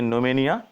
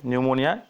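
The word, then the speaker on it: pneumonia: इसके बाद बात आती है न्यूमोनिया, ठीक है, न्यूमोनिया, इसे यहाँ पे जो पी साइलेंट रहता है, आपने अक्सर इसकी स्पेलिंग देखी होगी, ठीक है।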